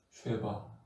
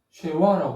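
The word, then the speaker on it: שווא: 다시 말에는 모음이 없다라는 표시로 비워두는게 아니라 요런 형태에 아 표시를 해 주는 요거를 쉐 쉐바라고 쉐바 쉐바 최화라고 하는 사람도 있는데 최바가 더 정확합니다.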